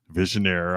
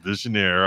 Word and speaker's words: visionnaire: you do a vision I'm saying I'm pronouncing it correctly now visionaire I always call it I can never pronounce it right but it was visionnaire I was corrected and and so a